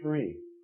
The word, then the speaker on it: Sri: the front of it Fri pronounced Sri it means almost beautiful